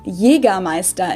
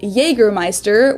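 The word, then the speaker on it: Jägermeister: alcohol this is pronounced yiga maesta in german jagermeister english speakers usually say jagermeister which is pretty much the same just with a pretty thick accent i think it's so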